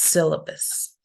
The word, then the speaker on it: syllabus: In the word syllabus, we can see also this is a diacritic. We can see that diacritic, which tells us that goes in the first syllable. So it's syllabus.